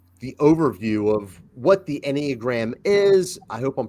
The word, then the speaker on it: Enneagram: categorizes different personality types okay the exact pronunciation and I'm I guess I'm a mild snob about this because I am Greek is anag an anag I even taught like